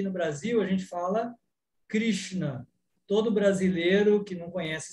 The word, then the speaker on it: Krishna: falei, a regra é, toda vez que você vê pontinhos embaixo da letra, enrola a língua faz assim, ó. Então, você vai tentar começar a pronunciar dessa forma. Krishna, Krishna, Krishna.